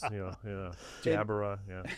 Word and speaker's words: Jbara: Pronounce the last name. Jbara. Jabara. Yeah. You get all kind of different. Some people roll the R's, Jbara, whatever.